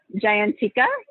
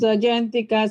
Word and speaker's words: Jayanthika: try to talk to giant tikka i'm so sorry if i said it wrong danny pika can you hear us yes i can hear my name is jayanthika slash tita i go by tita and i work for